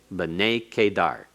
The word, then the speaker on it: B'nei Kedar: Notice that we have a accent next to the tsere in b'nei. That is a metheg, showing a secondary accent there. B'nei Kedar. B'nei Kedar. It's still pronounced as one word, but it has secondary accent to help out in the pronunciation because it's so long.